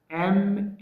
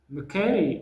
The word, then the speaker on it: machete: The pronunciation is not Machete. It is Mikeri. ለምን ድ ሆነ? Because sometimes when you have the letter or the sound T between two vowel sound, it must be flapped.